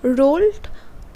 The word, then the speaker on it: Roald: রোল্ড ডাল, মানে ROALD আছে, অনেকে রোয়াল্ড উচ্চারণ করবে, আবার কেউ রোল্ড বলবে।